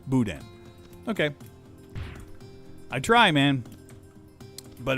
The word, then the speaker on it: boudin: Okay, so it's not Boudin, it's Boudin.